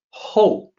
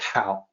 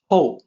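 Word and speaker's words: 厚: the native English speaker it's going to look like it should be pronounced like how like how are you how no it's actually oh and that's just uh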